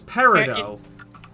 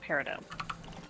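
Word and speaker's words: peridot: How are you pronouncing parid dot? It's parido. I was going to say it is technically pronounced parido.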